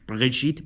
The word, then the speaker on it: Brigitte: they call it Brigitte, the French R is like pronounced like air, so it's like Brigitte Macron.